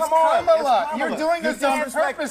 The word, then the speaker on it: Kamala: So pronounce her name right. Let me actually pronounce her name right. Kamala Harris. If Kamala. You said we don't call you Nancy Manchin. It's Kamala.